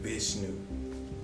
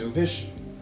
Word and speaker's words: Vishnu: Like bishu. Is that how you pronounce it? Bish. Vishnu.